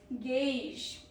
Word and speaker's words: gauge: Protobus, AU sounds like AY, not AW.